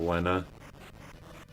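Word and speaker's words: Lenna: Wait, this is Lena or Lena? Lena. Pretty sure it's pronounced supposed to be pronounced Lena.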